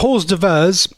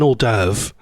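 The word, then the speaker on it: hors d'oeuvre: Oh, by the way, not horse diverse. It's called an olderve. How did I not know how to pronounce orve?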